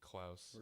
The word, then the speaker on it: Klaus: Ricky Klaus. I think that's how I pronounce it. Yeah. Yeah, it rhymes with mouse.